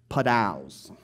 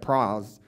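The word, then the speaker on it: πρᾶος: Padaos. So I know it's spelled P-R-A-O-S, which sounds like pros, but it's padaos.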